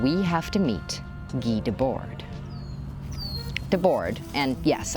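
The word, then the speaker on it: Debord: We have to meet Gee Debor. And yes, I'm pronouncing it dor instead of debah because saying debach in the middle of an English sentence sounds silly.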